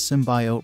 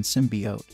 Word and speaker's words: symbiote: During the trailer, actress Jenny Slate pronounces the word symbiote as symbiote rather than symbiote, as many commentators believed it should be pronounced. This led to widespread criticism and a 35,700% increase in searches for symbiote pronunciation, according to Merriam-Webster, which noted both pronunciations are technically considered acceptable.